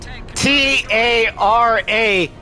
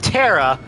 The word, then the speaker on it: Tara: But I also pronounce T-A-R-A, Tara, instead of Terra, because Terra is T-E-R-R-A. Because I know how phonics works. Very nice, Captain Snow.